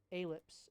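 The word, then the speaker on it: allip: mad stop we postulate a lips may be present stop ellipse is one word a-l-l-i-p aleph a-lip people pronounce it differently where there are a-lips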